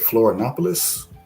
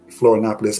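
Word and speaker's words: Florianópolis: Is it Florianopolis? Did I pronounce that right?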